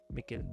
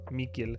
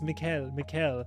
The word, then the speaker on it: Mikkel: So when I first started it, my English brain was saying Mikkel, and people were like, "No, don't do it. It's Mikkel." But then it's like Mikkel, like nickel.